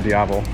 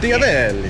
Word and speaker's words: Diavel: I mean, obviously drawn to all blacked out Diavol. Yes. How do you say it? Diavol? Diavel? I say Diavol. It's Italian, right? It is. Diavel. Yeah, Diavel. Yeah.